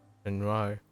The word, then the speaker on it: Renoir: Oh, Renoir is a nice way to pronounce that, actually. Renoir.